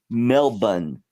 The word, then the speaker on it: Melbourne: That's how they say it down there. Melbourne. Yeah, that's correct.